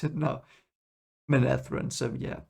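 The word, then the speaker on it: Manetheren: episode reaction that's why i know how to pronounce it now menethren so yeah it's i hope we get more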